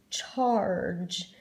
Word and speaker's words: charge: The RG is already the blockers, but the E is actually there to make you read this word with a soft G sound. We have the hard G sound, G. But when a G is followed by an E, then it's a soft vowel. So that's why we say the J sound, charge.